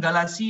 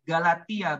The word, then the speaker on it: Galatia: 2 Korintus yang empat adalah Galatia bukan Galaxy Aya Galatia bacanya Yang keempat adalah Galatia